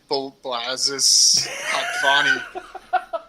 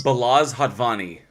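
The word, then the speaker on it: Balázs Hatvani: Directed by Blazes Hatvani. Balls Hatvani. No, do you know this one? Can somebody pronounce this? Balaz Hatvani.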